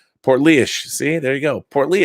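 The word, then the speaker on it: Portlaoise: go heads up my hometown my hometown is pronounced portly ish Oh portly ish poorly ish poor leash portly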